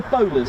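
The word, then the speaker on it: Bolars: And they call it the Bowlers, as in bowler hat, but it is spelled b o l a r s.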